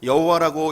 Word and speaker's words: 여호와: 그래서 지금은 여호와라는 이름을, 하나님의 이름을 여호와라고 읽는 사람들도 있고 야훼라고 읽는 사람들도 있습니다.